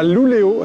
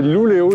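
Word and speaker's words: Luleå: Nous voilà à Luleo, c'est comme ça que l'on prononce, ce n'est pas Lulea, c'est Luleo, j'ai eu quelques remarques sur les réseaux.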